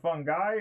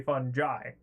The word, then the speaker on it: fungi: some people say uh fungi and some people say funi but anyhow now where